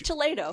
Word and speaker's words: Toledo: I think it's Toledo. It's pronounced Toledo from everything I've seen would be silly, from everything I've heard.